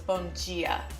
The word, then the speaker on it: Bom Dia: You pronounce the D in dia like a J, so it's Bom Dia.